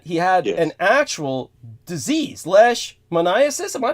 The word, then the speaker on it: leishmaniasis: But he definitely, George concluded that he had an actual disease, leishmaniasis. Am I pronouncing that correctly? Yeah, he calls it cutaneous leishmaniasis. He couldn't even pronounce it.